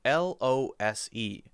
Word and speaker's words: lose: L-O-O-S-E and L-O-S-E. So the first one is loose. Loose. Ooh-ooh-s-s. Loose. Loose. The second one is lose. Lose. Ooh-ooh-z-z. What's the difference?